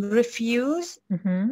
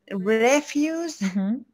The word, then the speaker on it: refuse: and refuse very good the first one is a verb and the rest is on the second syllable and you don't want to do something yes but refuse the stress is on the first syllable and also um we